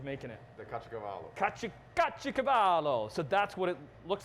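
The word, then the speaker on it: caciocavallo: Kacho Cavallo.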